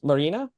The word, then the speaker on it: Marina: Yeah, well, I appreciate the effort because I get called Maria a lot. So Marina is very nice. Just Yeah. trying, the N is silent for some people. They're like, oh, yes, this is Maria. And you're like, No. no. Close, but oh yeah, just one more letter.